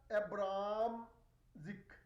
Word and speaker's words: Abramczyk: Okay, so we pronounce it as Helena Abramczyk. We keep C silent.